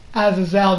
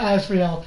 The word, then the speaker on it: Azazel: Azazel, not Azrael. Azazel.